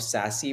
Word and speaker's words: SASE: say to my team this acronym of sassy which is s-a-s-e you've got to insert